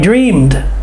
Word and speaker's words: dreamed: I dreamed of being free. Dreamed, D-R-E-A-M-E-D, but the D sounds like the D this time.